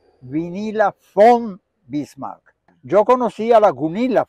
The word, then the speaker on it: Vinila von Bismark: bismar con tu acento alemán se dice se pronuncia vinila F bismar yo conocí a la gunil v bismark que